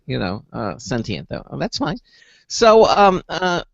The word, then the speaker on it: sentient: form okay sentient life okay because some people pronounce it sensient you know uh sentient though that's fine so um uh so why don't